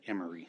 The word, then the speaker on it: Emery: That's how you say it, Emery.